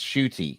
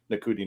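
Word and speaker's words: Ncuti: pronounced it and people were saying that cody nakuti nakuti it's spelled and n-c-u-t-i and i'm like it's pronounced shooty i'm like okay yeah because we had we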